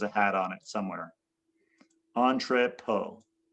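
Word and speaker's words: entrepôt: Entree poe. Entree po is the how you pronounce it.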